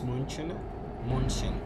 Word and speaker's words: München: Munich pronounced as München.